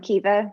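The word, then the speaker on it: Caoimhe: And I'm Kiva. It does not look like Kiva. I put in my little name on Zoom, how you actually pronounce it, if anyone actually wants to ask me a question. And I'm from Ireland, which is hence the funny spelling of my name.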